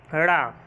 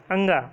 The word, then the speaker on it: ड़: तो उसमें व्यंजन 4 होते, पता है, या, रा, ला, वा और अंगा। अंगा नहीं, ड़ा बोलते हैं इसको उच्चारण में।